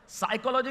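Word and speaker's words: psychology: साइकोलॉजी की spelling P से शुरू होती है, उसे साइकोलॉजी नहीं बोलते।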